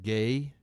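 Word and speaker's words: Gueye: last name was spelled like g-u-e-y-e but it's pronounced gay and so he's sitting there practicing looking at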